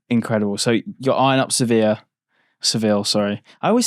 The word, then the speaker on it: Sevilla: Spanish pronunciation maybe. Yeah. Sevilla. Yeah. There we go. I don't know. There we go. I said it with accent so it's all right.